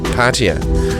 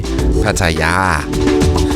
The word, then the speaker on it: Pattaya: The British say Patia, we say Paya, and the Thai people themselves say Paya.